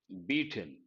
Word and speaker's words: beat: students there, beat, beat, beaten. A lot of people think beat, bet, beaten. No, beat, beat, beaten. Spelling is the same, so is the pronunciation. It is not beat, bet.